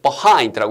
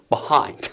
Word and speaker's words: behind: behind 이렇게 해도 되는데 원어민들의 발음 그대로 둬서 액센트를 뒤에다 두고 behind라고 했을 때 알아들으시면 돼요. 에? 뭐라고요? behind 이렇게요. 액센트가 뒤에 있다 보니까 behind가 아니라 behind 앞에 발음이 b 이렇게 발음이 좀 약화된다는 그래서 이 단어가 아예